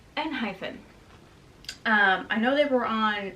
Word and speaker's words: Enhypen: a dash after it, which for me is confirmation that it is pronounced Enhypen.